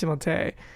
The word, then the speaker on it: Timothée: So Timothée Chalamet, did you know that his, I mean, it's actually pronounced Timothée. Timothée.